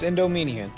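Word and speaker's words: Endymion: Here I am trying to lab against fucking Endomedian. How do you pronounce this shit? Yeah, you got it. It's Endomedian.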